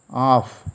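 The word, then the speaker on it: half: H-A-L-F, off. Here L is silent.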